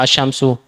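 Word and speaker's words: الشمس: asamaku ikan asyamsu apa asyamsu matahari jadi lam di sini tidak dibaca jelas tapi dilebur ke huruf selanjutnya namanya Syamsiah ini Oh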